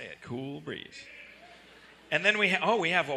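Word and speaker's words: Kewl Breeze: and it's spelled K-E-W-L, yeah, but it's Cool Breeze.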